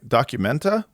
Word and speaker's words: Documenta: Am I pronouncing that right? Documenta?